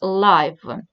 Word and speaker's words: live: Если if we are talking about media, если мы говорим о СМИ, то live имеет значение как прямой эфир, онлайн и так далее, и произносится как live.